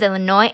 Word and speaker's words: Illinois: and hit the road Illinois's on the phone yes my name is Illinois and I need one airline ticket to UM well Illinois hmm no the S is silent Colorado's walking up the